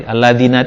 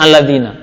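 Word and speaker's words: الذين: Alladzina itu artinya apa? Orang-orang yang. Itu sampai kapanpun Pak, itu pasti bacanya alladzina. Mau dimanapun kedudukannya, itu pasti alladzina.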